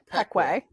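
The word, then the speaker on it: Pequea: pronunciation of this word it's peckway like Pei Wei no like Peck way okay okay yeah yeah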